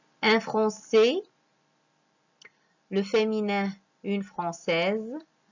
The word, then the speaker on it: française: Alors, un français, le féminin, une française. On a prononcé Z parce que S se trouve entre deux voyelles, le I et le E.